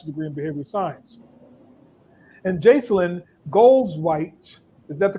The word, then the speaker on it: Jacalyn Goldzweig: And Jacalyn Goldzweig, is that the correct pronunciation? Jacalyn, what's the correct pronunciation, Jacalyn? Jacalyn Goldzweig.